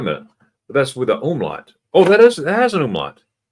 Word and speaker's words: umlaut: I used to call it an omelet until I was corrected. It's not an omelet. It's an umlaut.